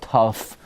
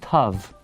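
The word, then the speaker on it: תו: Everybody knows it's not tough. Tough. That's why people think it's tough. Now, the tough is tough luck. The letter, it's Tav. Nobody says tough.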